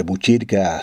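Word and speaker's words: Botkyrka: Este nombre de Buchirca, si se escribe en sueco, se escribe con una K y una Y.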